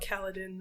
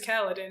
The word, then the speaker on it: Kaladin: the only gotten his his name is kaladin and I said that rhymes with Paladin that's weird maybe that's